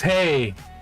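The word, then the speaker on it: hej: Ah, but it's hey. It's written the same. It's written the same, it's pronounced differently. So in Danish, the H-E-J is hi. And in Swedish, it's hey. Hey.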